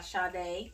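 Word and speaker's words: Sade: the song that's playing in the background by shaw day that's how you say it whatever you know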